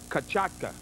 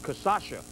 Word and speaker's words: cachaça: Some people pronounce this as cachaca. When I grew up, it's Brazilian rum made from the sugar cane there. Growing up, to me, it was called cachaça.